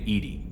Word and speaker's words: EDI: airlock is a jar why are you named Edie Ed is the phonetic pronunciation of Eed that that is an acronym